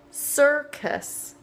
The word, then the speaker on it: circus: Scent, rice, face, price, choice, circus. That one has two C's. One sounds like the S in city, and the other one just sounds like a K sound.